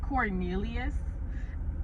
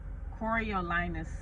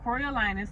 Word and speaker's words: Coriolanus: It's not Cornelius. It's not pronounced Cornelius. It's Coriolanus Snow. Or just President Snow for short, or we can just call him Snow. But yeah, y'all, Coriolanus.